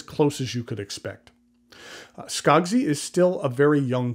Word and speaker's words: Skogsy: currently the only place you can purchase a skagsy pen is through their Instagram page I'll put a link to it in the notes below or you can search for it skogzi is spelled s-k-o-g-s-y I paid 250 for this